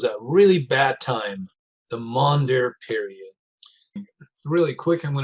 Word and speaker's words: Maunder: this is called a monday period monder is spelled m-a-u-n-d-e-r monder period during the maunder period